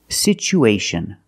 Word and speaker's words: situation: So we pronounce it with the ch sound. It's pronounced situ, situation. One situation or two situations. So the second syllable is the long oo like boot and moon.